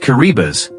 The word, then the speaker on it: Kiribati: Kiriati pronounced Kuribas is a small Pacific